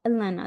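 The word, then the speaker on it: Helena: Yeah, Elena. The H is silent.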